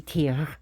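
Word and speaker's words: Týr: I have so tier who is he tier it should be pronounced or or should be rolled and I got this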